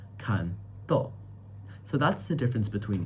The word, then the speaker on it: canto: And that makes the word different from canto which is song as well where the stress syllable is can. canto canto.